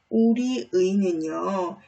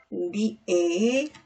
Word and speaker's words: 우리의: 자, 우리 의는요. 이 의는 뜻이 없는 조사 의에 해당하기 때문에 우리의, 우리애 라고 두 가지로 발음을 할 수 있습니다.